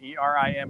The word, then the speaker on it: Erin: way Deon it's not it looks like Ain e r i n but it's pronounced Erin irin see I didn't know that here in Tennessee